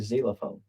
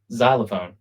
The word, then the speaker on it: xylophone: No, a Z before a Y would be a zylophone. You can do whatever you want. What' you just say? Zylophone. Xylophone. Xylophone. Mhm. Spelled with an X.